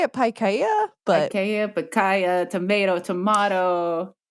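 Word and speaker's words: Pikaia: fish is like huis and picaya is that how you say it Paya I say it Paya but Paya Paya tomato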